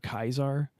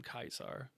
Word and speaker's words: Caesar: is the fact that they call Caesar kaisar because of how the name is spelled and only Caesar himself